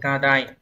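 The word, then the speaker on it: 過大: Từ số 3 của chúng ta là chữ quá thì đại, được đọc là Kadai.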